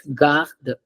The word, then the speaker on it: garde: So the first word here, I'll pronounce that word. It's garde.